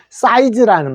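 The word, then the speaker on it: size: 자, ZE는 Z라고 읽어요. 그죠? Z라고 합니다. 요거 Z랍니다. 지그재그 할 때 G입니다. 그래서 사이즈라고 읽습니다.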